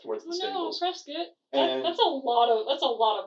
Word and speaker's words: Prescott: Prescott. It's Prescott. Prescott. Whatever. Alright. It's how Prescott, let's- the city in Phoenix, is pronounced.